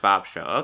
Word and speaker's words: BobSheaux: Okay, so it's just pronounced BobSheaux.